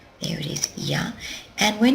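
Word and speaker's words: 屋: next we come to this kanji here it's pronounced y there it is ya and when it's put after a product it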